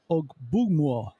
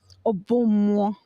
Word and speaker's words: Ogbummuo: How do you say it? Ogbummuo. Ogbummuo?